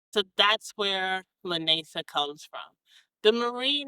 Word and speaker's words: Lanacia: If you're wondering where the name to my small business came from, Lanesa is actually how you pronounce it, and it is my middle name.